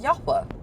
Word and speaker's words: Yahweh: Say the Father's name is pronounced Yahweh.